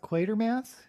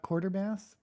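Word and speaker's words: Quatermass: Oh, it's pronounced quater mass, not quarter mass.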